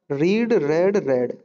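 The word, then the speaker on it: read: और याद रहे रीड की तीनों फॉर्म की स्पेलिंग जो है वो सेम होती है, लेकिन बोलने में आता है रीड रेड रेड।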